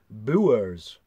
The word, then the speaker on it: Bures: I've just looked it up and they actually pronounce it boo errs oh yeah boo boo errors it's spelt yours